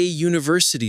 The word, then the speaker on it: university: Ya University that Ya sound is a consonant sound. So you say she is a university student, not an university student.